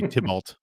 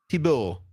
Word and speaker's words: Thibault: be French, but then you say Tybalt. Tybalt. That'd be I don't know how you say it. What is it? Thibault. Thibault? Thibault. Thibault? Thibault. That's better. Yeah, that's good.